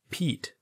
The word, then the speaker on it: Pete: we get the word Pete the letters would be pronounced p e t e is the long vowel sound of the letter e again we don't pronounce the last e all the e does